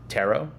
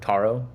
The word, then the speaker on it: Taro: also very excited about tarot or taro i think it's officially pronounced taro um from what i've heard i've been corrected um but i'm very